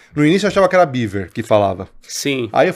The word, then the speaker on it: Biewer: me falou não é baver mesmo é é baver porque é uma raça que surgiu na Alemanha né e não é uma raça americana portanto a pronúncia correta é baver e baver é o